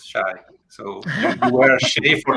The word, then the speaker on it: Shay: to change this because we didn't know that the right pronunciation of your name was Shay.